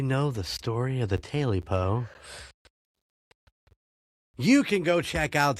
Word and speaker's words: Tailypo: So how are you pronouncing it? Tailypo. Tailypo. I get Because that. it's spelled Tailypo. Okay. Tailypo. Tailypo. Tail. Like the cat's tail.